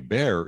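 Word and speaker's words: Bexar: middle of bear county bear is spelled b-e-x-a-r i have no idea what the derivation of that word is but if you're not from there you look at b-e-x-a-r and you have no idea how you you're right but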